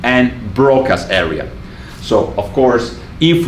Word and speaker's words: Broca: And Wernicke should really be pronounced Wernicke, and Broca should be really pronounced Broca.